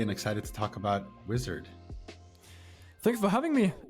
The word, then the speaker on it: Uizard: serve of course so wizard is a design tool for non-designers and it's basically pronounced wizard but it's spelled with a u so just something to